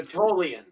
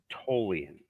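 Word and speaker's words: Tholian: so it's more like toan the H is silent essentially I have to say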